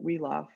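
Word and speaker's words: Wiglaf: the side this this Warrior woff that's how you pronounce that weof decides that that he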